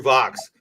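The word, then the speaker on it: Vachss: have drinks with Andrew Fox and Eugene izy see now I would pronounce that Andrew VES is how I yes he would Andrew Vox you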